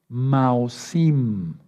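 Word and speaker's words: Maozim: Ahí aparece una palabra que se escribe Maosim. Maosim. Maosim con Z.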